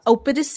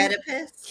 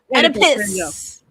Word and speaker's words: Oedipus: Yeah, Opidus. How do you say that? Yeah. Epidus. We know Greek mythology. Oedipus. Yeah, Oedipus.